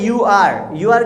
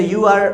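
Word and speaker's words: you're: चल रहा हो तो यू आर को हम लोग बोलते हैं यो आर, ओके। जैसे मैंने कहा वेल आप मुझे देख रहे हो तो यू आर वॉचिंग, इसको हम लोग शॉर्ट में बोलेंगे यो आर वॉचिंग मी, ओके। आप ओके पढ़ा रहे हो तो यो आर teaching, not actually यू आर, यो आर teaching, okay.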